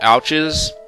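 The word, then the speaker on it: Owtches: So these things right here, these are called ouches, spelled O-W-T-C-H, and it sounds a lot like ouch as you would spell it like the common word.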